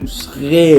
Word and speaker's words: schreeuw: E, U, W, because normally in Dutch a U is pronounced U, but in this combination it's all of a sudden a OO. SCHReeuw.